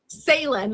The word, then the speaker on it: Sailynn: Sailynn, like sailing on the ocean.